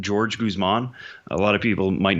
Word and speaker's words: Jorge Guzman: we believe to be Jorge Guzman wants to be called George Guzman.